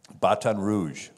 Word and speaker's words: Baton Rouge: You know the French pronunciation of Red Stick? Baton Rouge.